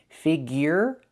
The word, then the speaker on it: figure: Figure the y-year sound figure.